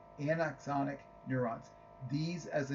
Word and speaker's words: anaxonic: uh Anna and axonic gotta say it right anaxonic neurons these as the name suggests are neurons